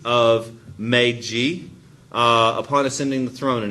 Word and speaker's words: Meiji: That's how you say it, Meiji Restoration.